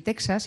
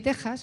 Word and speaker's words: Texas: os hagáis una idea la x que hay en México y Texas que en realidad deberían supuestamente pronunciarse en México y y Texas igual que decimos examen o extranjero eh se pronuncian México y Texas Es decir esa x una una J porque es como si